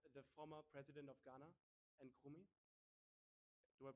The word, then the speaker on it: Nkrumah: It is the Museum of the former president of Ghana, Nkrumah. Do I pronounce that right?